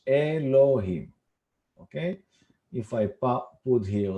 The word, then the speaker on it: Elohim: If we pronounce it, this is called Elohim. Here is the pronunciation in English, Elohim.